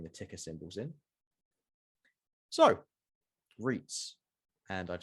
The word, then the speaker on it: REIT: greg for adding the ticker symbols in so reits and i've said it like 50 times now but i thought i'd add it in already it is pronounced reit it is not pronounced right so it is a special class of company